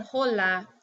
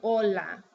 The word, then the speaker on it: hola: alright so the H the H is actually silent because you've probably seen words this word you guys never said holla you say hola okay and you don't